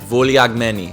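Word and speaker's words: Vouliagmeni: It's like vulyagni. Vulyagni.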